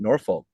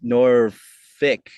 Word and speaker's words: Norfolk: say it wrong um they don't say it Norfolk it's norick Nori even though yeah even though it's spelled nor f o k but hey is it's